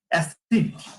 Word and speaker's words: এসিড: আমি যদি উচ্চারণ করছি আমি অ্যাপল, অ্যাপল উচ্চারণ করছি না, আমি অ্যাসিড উচ্চারণ করি কিনা? আমি লিখি এসিড লিখি, কিন্তু আমি উচ্চারণ করি অ্যাসিড।